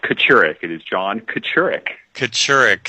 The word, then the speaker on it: Kachurick: do you pronounce it it is pronounced Catterick it is John Kocurek